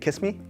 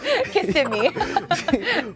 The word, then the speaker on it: Kissimmee: You know, I didn't know how to pronounce Kissimmee until I started hosting. Really? What'd you think? Kiss me? Yes. Kissimmee.